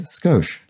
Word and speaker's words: skosh: after world war ii in native japanese pronunciation the you and the i in sakoshi are commonly alighted so that would be i guess skosh so that is very